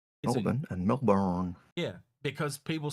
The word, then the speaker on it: Melbourne: because of the way they say Melbourne. because they'll go Melbourne and and the B is really really quiet. Melbourne. Melbourne. Yeah. It's And it's not born, it's been. We almost say it like it's been.